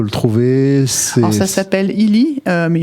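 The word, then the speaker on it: Healy: Illy, ça s'écrit comment?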